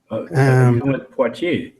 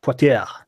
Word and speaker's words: Poitiers: I don't know how do you pronounce that. It's a place in France. Poitiers. Yeah, Poitiers.